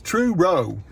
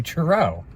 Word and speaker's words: Truro: no it's it's in I'll say it because you don't say it right Truro he says tro no I don't say tro I say I I say Truro it's Truro Truro Truro